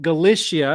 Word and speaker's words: Galicia: in the Kingdom of gal galsia G Galicia I believe how it's pronounced in the Iberian Peninsula